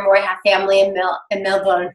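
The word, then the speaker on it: Melbourne: I have family and milk and no bones I have to say it correctly right not English way of Millburn but it's such a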